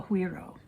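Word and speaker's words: güiro: This is called a huiro. It's Guiro, and it's pronounced huiro.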